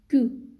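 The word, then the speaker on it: queue: french pizza english pizza q is ku french word for this is ku which means tail in english ku means tail in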